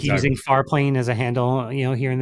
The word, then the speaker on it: Farplane: Everybody should check it out at Farplane AI. Did I say it right this time? What did I say last Yeah, time? yeah. Far plane. Like you ever played Final Fantasy X?